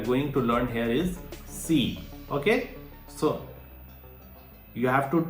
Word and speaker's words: c: should you pronounce it it is saying that like the TS at the end of tests or its okay but you have